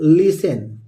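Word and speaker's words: listen: आई एस टीई एन तो T silent होता है इसको पढ़ते हैं लिसन एल I double T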